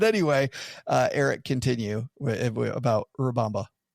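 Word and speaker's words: Urubamba: Or maybe you are saying Urbamba and you pronounce it way better than I do. Like you a little tiny roll of that R.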